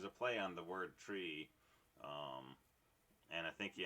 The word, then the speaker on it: trie: um per node uh tri was the middle syllable of retrieval r-e-t-r-i-e-v-a-l and so it was called tree as in retrieval but then